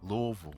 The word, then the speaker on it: Louisville: rapper from Louisville Kentucky Louisville Louisville that's how they say it that's what makes it right right um currently signed